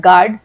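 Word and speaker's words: guard: है, जैसे कि GUAR गार्ड, BAL balm, PALM palm, इन सब में L जो है वो साइलेंट है, गार्ड में U साइलेंट है, L बाम में हम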